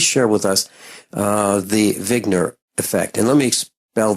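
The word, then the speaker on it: Wigner: the name of zner it's actually like he just spelled with a W uh but he's a his name is Dr Eugene vigner and originally back in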